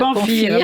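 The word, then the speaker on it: Pamfir: Et puis là, on va passer au Serment de Pamphire ou Pamphire, on va dire Pamphire, d'accord.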